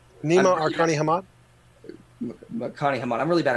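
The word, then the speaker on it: Nima Arkani-Hamed: It's Nima Arkani Hamad. Arkani Hamad. I'm really bad at pronunciation.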